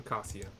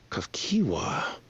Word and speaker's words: Kafkiwa: Oh, I was pronouncing that wrong. Kakiwa. I was doing Kasia. Kafkiwa.